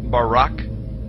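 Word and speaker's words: ברק: brightness or a glittering the hebrew word is Barack so lightning or a flash of light in Hebrew is pronounced Barack or Barack now consider this amazing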